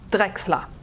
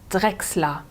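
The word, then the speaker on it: Drächsler: Drechsler. D-R-A mit Umlaut. C-H-S-L-E-R. Não se esquecendo que muitos CHs na Alemanha se pronunciam como um K-S. Drechsler.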